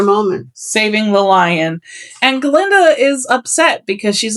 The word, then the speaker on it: Galinda: In fact, when Dr. Dillamond calls Galinda Glinda, she demands to know why he can't pronuncify her name, and that's the phrasing she uses.